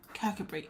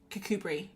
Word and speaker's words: Kirkcudbright: Um Kirkcudbright. Oh, it is spelled like that.